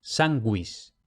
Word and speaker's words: sanguis: Y luego, cuidado, cuando tenemos G-U-E o G-U-I, en esas secuencias la U se lee, como en español cuando tiene diéresis, gue, gui, como en sanguis.